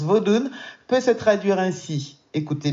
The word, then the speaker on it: vodoun: langue du Bénin voilà le mot vaudou ou vudon comment il le prononce d'ailleurs vodoun il le prononce vodoun peut se traduire ainsi